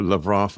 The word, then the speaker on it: Lavrov: I really like to watch Lavrov, or Lavrov, I guess it's pronounced.